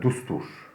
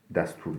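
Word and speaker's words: دستور: Dustur. Dustur yani kural, kaide, destur değil. Dustur arkadaşlar. Sanırım bazen öyle telaffuz etmiş olabilirim önceki derslerde, onu düzeltiyorum.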